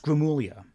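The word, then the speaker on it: Gramuglia: So my last name is pronounced Gramulia. So a good way of thinking of as like 4 syllables. Gra-mu-li-a. Say it like that, it's much easier. The G isn't really silent. It's like a weird Italian sound with the G-L-I-A sound to it, but Gramulia is the closest I can explain it in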